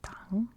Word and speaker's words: Tang: became active again in 639 when the Chinese Tang Dynasty which I know it's pronounced Tang but in America we call it the Tang